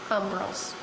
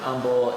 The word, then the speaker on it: umbel: Now, haven't you told me before that they're compound umbrels? Compound umbel is more like a I didn't.